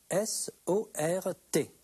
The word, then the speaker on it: sort: Ça s'écrit S-O-R-T. Ça s'écrit avec un T. Ça se prononce sort, mais ça s'écrit S-O-R-T.